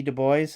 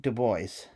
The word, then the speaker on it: Du Bois: Folk you know W.E.B Du Bois uh and yes he did pronounce it Du Bois um not Dubois so this is a